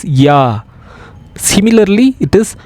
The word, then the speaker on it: ja: Even though there is J-A is there, we will not call it as ja. We call it as ya.